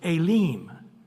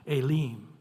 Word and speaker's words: Elim: Elam it'll actually say elim so the E has an a sound and the I has an e sound a leem and then if you